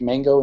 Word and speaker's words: mgo: one um called uh it's called mango but it's spelled mgo and they say pronounced mango in the documentation i don't know why